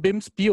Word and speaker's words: BIMSB: Womit wir bei Nikolaus Rajewski wären, Systembiologe, Gründer und Leiter des BIMSBI. Kommen Sie mal zu mir. Ist es überhaupt richtig ausgesprochen, BIMSBI oder BIMSP? Ich sage BIMSBI.